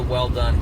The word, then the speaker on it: Welldone: So, uh I'm keeping it as binge a well done comedy show. Not that many guys or gals know, but my last name is actually pronounced well done, like good job, right?